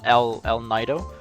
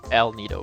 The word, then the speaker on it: El Nido: or more of a l nido but no it it is definitely el nido because it's spanish oh that guy uh